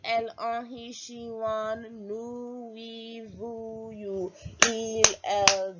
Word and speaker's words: nous: Like Winnie the Pooh, we say nous and vous. Alright, please note that pronunciation, okay? So nous, nous, nous. Like N-O-O, probably H at the end.